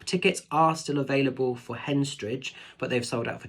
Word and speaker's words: Henstridge: over in hensridge doing Henstridge I always say it wrong hence stridge I think it's how you say it um doing a